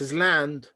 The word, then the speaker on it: island: uh an unexpected pronunciation this is is and this is land so if we put them together it would be island well it could be